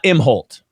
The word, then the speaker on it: Imholt: we're with how do you say your last name uh imholt imholt all right so you're from